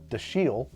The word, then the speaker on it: Dashiell: author, Red Harvest by Dashiell Hammett. I heard somebody just recently pronounce his name Dashiell, and I don't think that's true. I don't think that's right. I think it's Dashiell.